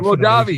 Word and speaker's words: Mojave: Because that's how you pronounce it. But he's the Mojave Kid. He runs back. Mojave, you know, the Mojave Desert.